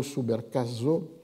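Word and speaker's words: Subercaseaux: La seule autre exception étant, mais une entreprise plus solitaire, en 1993, donc très tôt, un collègue chilien, Bernardo Subercaso, ça s'écrit S-U-B-E-R-C-A-S-E-A-U-X, avait publié une Historia del libro en Chile.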